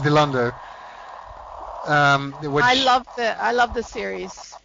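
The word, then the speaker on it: Dilandau: Dilander is and it's properly pronounced Dilander.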